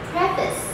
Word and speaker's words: preface: It looks like preface because you have pre here and face here. But no, this word should be pronounced as preface.